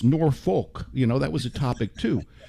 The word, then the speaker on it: Norfolk: And, how do you pronounce Norfolk?